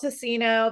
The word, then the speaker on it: Teeccino: And so this is called Teeccino.